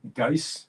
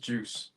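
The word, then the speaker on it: Guice: People sometimes call him Geis, Oh, okay. Yeah. but it's pronounced Juice.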